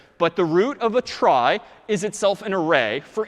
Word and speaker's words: trie: weird name and pronunciation short for retrieval pronounced try typically a try is